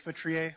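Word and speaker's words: Feutrier: Hi, my name is Chris Vrier. last name is spelled F as in Frank, EU, T is in Tom, R I E R.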